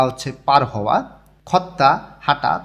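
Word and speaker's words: 걷다: বা হচ্ছে পার হওয়া খত্তা হাঁটা ত ধ্বনির পরে যদি আবার ত ধ্বনি আসে তখন দুইটা মিলেই তটা উচ্চারণ হয় খত্তা হাঁটা ছিলগুন সিগান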